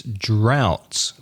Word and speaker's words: drought: which in English is drought that's a hard one to pronounce D ro ug HT the vowel sound is owl like now or how and the pronunciation droughts